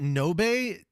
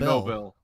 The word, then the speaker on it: Nobel: Did you call it Nobe? It's spelled Nobel. Sorry, Nobel. I was fixing to say, I was like, my dude.